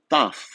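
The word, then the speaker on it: ταυ: Em grego isso é pronunciado taf, ok? E vocês vão escutar falar taf o tempo todo. Em português o nome dessa letra é tau, ok?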